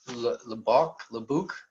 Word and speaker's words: Lubbock: We have a dispositions manager who's also in Texas, Lebuc. I can't remember how to pronounce it. And then we have, what's that? Is it Lubbock? Is that the way? Yes. Yeah, Lubbock.